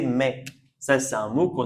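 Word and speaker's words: maïs: Et ici c'est deux syllabes a I.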